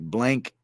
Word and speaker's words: Blanc: Trey Fidesz says Blanc is pronounced like blank.